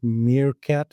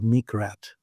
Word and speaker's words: meerkat: And I was calling it Meerkat at the time because a meerkat pops out of its hole, looks around, and pops back in every now and then. But I kept mispronouncing it as Meekrat.